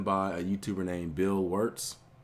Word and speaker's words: Wurtz: a YouTuber named Bill warts I believe that's how that's pronounced his name Bill warts and this instead of